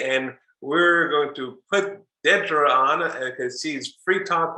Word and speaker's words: Dedra: It's literally pronounced Dedra and not Dedra.